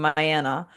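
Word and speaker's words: Myanna: there's also Mayana Buring. I think that's how you pronounce it. My Anna is literally her name, Mayanna.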